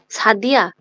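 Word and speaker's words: Sadia: English আর জার্মানিতে আমাদের কি উচ্চারণ ভিন্ন ভিন্ন হচ্ছে? না। না হচ্ছে না।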